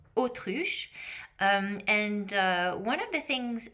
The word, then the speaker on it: autruche: The next one is ostrich leather, which in French is pronounced autruche.